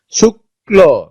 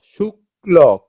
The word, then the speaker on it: শুক্ল: শুক্ল, শুক্ল, ক, ক, ঠিক আছে, দুইটা ক উচ্চারিত হচ্ছে।